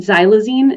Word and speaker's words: xylazine: since the pandemic and xylazine is the way that it's pronounced that X is pronounced as a z so xylazine is a Veterinary sedative